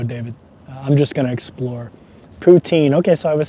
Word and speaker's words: poutine: don't think so David I'm just gonna explore poutine okay so I was saying it right poutine I'm excited to try it I'm excited to